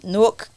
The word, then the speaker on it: Newark: Lord I'll be Wilding sometimes hmm you from Newark and you're a Virgo I said it right